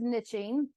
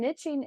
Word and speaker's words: niching: that you go with niching um I did a little research both pronunciations are correct if anyone's curious and I was surprised to learn niching is the older of the pronunciations you know I get